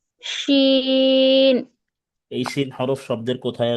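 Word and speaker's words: شين: শিন। শিন। শা শা আওয়াজে উচ্চারণ করতে হবে, শিন।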